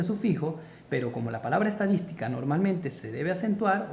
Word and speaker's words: estadística: Por ejemplo, tenemos la palabra estadística. Estadística. ¿Cómo se separa estadística? Estadística. Última sílaba, penúltima sílaba, antepenúltima sílaba. Mayor fuerza de voz, acá, en dis, estadística.